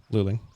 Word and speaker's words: Luling: Is it pronounced luling there too, like it is here? Recklessly break pints. Oh, well, evidently I don't recklessly break them. I break them with purpose. Yeah, luling, same as here. We also have a Luling, Texas that is pronounced the same way.